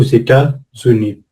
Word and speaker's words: États-Unis: à état et ce S, je suis obligé de le prononcer parce que il y a un tiret entre État et uni. Donc on va dire au première liaison derrière le haut aux États-Unis.